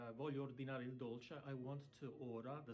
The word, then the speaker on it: dolce: an Italian restaurant, you say, voglio ordinare il dolce, I want to order the sweet, il dolce. It's not dolce, it's dolce, D-O-L-C-E, dolce.